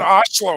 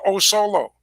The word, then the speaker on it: Oslo: around us we've got we've got oslo minnesota it's a little town up here the other night the guy called it oh solo john i wanted to